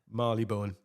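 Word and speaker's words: Marylebone: bone Maly bone did you say that there Marley Bone correct oh right okay so Marley bone no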